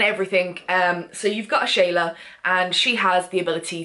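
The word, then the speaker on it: Ashala: it is early update it's not the interrogation of a shallow wolf it's pronounced a shayla well you find that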